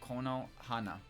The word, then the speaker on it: Konohana: It's the kanji for tree. Ko, and then the character for Hana. That's pronounced Kono Hana.